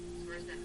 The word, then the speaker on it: Swiercz: Serena.